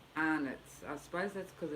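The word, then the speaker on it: Arnott's: way we pronounce it people say it the way it's spelled are not but we say anitz i suppose that's because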